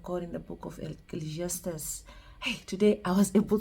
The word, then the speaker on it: Ecclesiastes: able to pronounce it I used to say eate it and I would hear the pastors and people other people you know saying Ecclesiastes and now I've aligned to Ecclesiastes so if you go